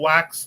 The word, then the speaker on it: wax: says what does on wax mean on wax is a double in Tandra in addition to the common meaning of the phrase to record something or make it official wax pronounced wa is the woff word